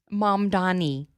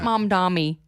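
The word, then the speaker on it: Mamdani: Mom Donnie not mom dammy not mommy dammy.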